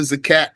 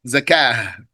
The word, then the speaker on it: zakat: We are just about to get out of the zakat section. We saw that the zakat you can pronounce it with a t you can pronounce it with a h zakat when you stop.